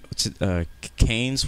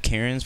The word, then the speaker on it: Cairns: Cairns, which I've been calling it Cairns, but apparently it's called Cairns.